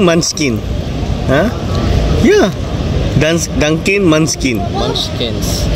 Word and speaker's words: Munchkin: Dunkin Munching. Dunkin Munching. Dunkin Munching. Ano pronunciation? Dunkin Munchkin.